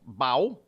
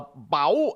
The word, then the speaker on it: bao: Bao, B-A-O. It is National Bao Day. You have to say it like Chinese.